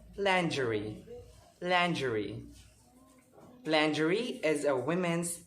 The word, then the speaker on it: lingerie: or r i e it is mispronounced by everyone as lingerie or lingerie but it's not it's very wrong it is pronounced as landry landry landry is a